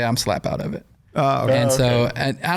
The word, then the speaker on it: Slapout: I'm from a town called Slap Out, Alabama. We live about 35 Okay. minutes outside of Montgomery. What's it It's called? Slap Out. Slap Out? Slapout. Oh, it's spelled like it sounds.